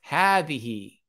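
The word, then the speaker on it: هٰذِهِ: And this word here is pronounced hadhihi. Okay? So you pronounce it as if there is an alif coming after it. You wouldn't pronounce it hadha or hadhihi. You pronounce it hadha and hadhihi.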